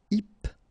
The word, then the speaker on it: hypnotique: Remember, at the end, Q-E, K, tic. So, H is not pronounced. Hypnotique. Hypnotique.